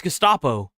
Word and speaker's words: Gestapo: Still didn't even pronounce it right. It's Gestapo.